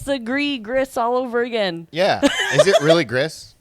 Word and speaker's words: Gris: do you say it how do you you say it griss and he's like technically it's gree he's like but I